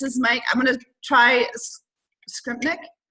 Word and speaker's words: Skrypnek: I'm gonna try Skrypnek. Skrypnek, yeah, absolutely.